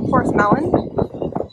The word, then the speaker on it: Porthleven: sleepy little fishing port is a por melon I think is how you say it super cute so that